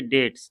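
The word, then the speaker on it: debts: We dash पे आवर डेट्स, इसको पढ़ेंगे डेट्स, ध्यान रखेंगे इसको, डेट्स है ना, डेट्स, डेट्स, इसमें बी साइलेंट है, यानी ऋण, कर्ज, है ना।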